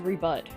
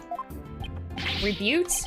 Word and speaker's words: rebut: Rebute? Sorry, is that... I don't... Damn it! I also haven't saved in a while, so I'm gonna do that. Yes, Your Honor. There actually is. Rebut as in rebuttal.